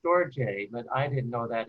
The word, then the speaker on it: storge: some level yeah uh actually it's pronounced storjay but i didn't know